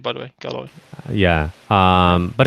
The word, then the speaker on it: Galoy: I don't know if I'm saying his name correctly, if I'm pronouncing it correctly. I think it's actually Galoy, by the way. Galoy.